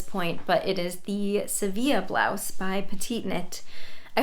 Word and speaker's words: Sevilla: the pattern name so the pronunciation should be the Spanish pronunciation which I believe is Seeva hopefully I have zero